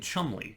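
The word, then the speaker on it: Cholmondeley: say it they're saying Chumley yeah they said they they like skipped like two yeah does not the pronunciation they use does not sound like the phonetic that I would expect maybe this is like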